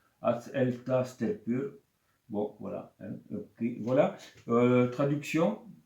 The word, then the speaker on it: Að elta stelpur: donne le nom alors la prononciation c'est en Islande donc elle tasse tel que bon voilà voilà